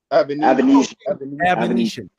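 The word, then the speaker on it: Avanesyan: How do you pronounce his name again? Avenesian.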